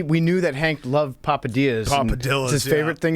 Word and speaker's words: Papadia: there watching games and papadillas you're pronouncing it like a gringo it's papadia papadi there's actually no l in it no it's dillas papadia